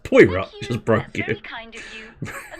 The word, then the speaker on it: Poirot: justice to make you feel anything left it's pronounced poirot just broke it kind of you'll find the